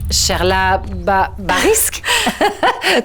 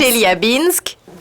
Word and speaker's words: Chelyabinsk: Cherla Barisk. Comment est-ce que tu le prononces? Chelyabinsk, Russie. En fait, c'est très difficile à prononcer.